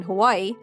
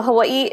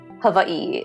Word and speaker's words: Hawaii: things they have in Hawaii. Although I think I'm pronouncing it wrong now, because I think you pronounced it differently. Yeah, so Hawaii, it's, you pronounce both the I's. Hawaii, yeah.